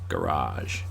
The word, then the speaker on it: garage: car in the garage Americans do what Southerners in England do with the word bath bath G they extend the a garage it's a mouthful though